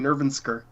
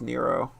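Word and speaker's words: Nrvnqsr: I was saying Nervensker. I think it's pronounced Nero. Okay, he's not Nervensker Chaos. No, it's just Nero.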